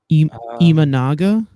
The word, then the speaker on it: Imanaga: say that guy's last name the Iguana dude imanaga the Iguana D yeah that's his name the